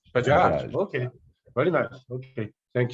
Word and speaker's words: Bajaj: So our next speaker is Professor Chandrajit and how to pronounce her last name? It's Bajaj. Bajaj.